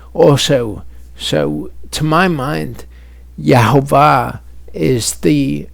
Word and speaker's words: Yehovah: So to my mind, Yehovah is the pronunciation with the best evidence, but tribe to